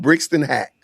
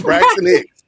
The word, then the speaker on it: Braxton Hicks: Brixton Hack. What's it? What's the Brixton Hicks? Braxton Hicks.